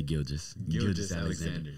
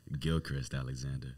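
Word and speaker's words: Gilgeous-Alexander: The reserves consist of Shea, how do you pronounce his last name? Shea Gilgeous Alexander. I know that Shaq and Charles Barkley like to call him Gilchrist Alexander.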